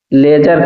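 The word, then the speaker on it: ledger: accounts की भाषा में लेजर कहा जाता है इंग्लिश में वर्ड लेजर लेकिन अगर आप अलग अलग करके बोलेंगे तो एलईडी जी डी इसमें साइलेंट होता है तो यह हो गया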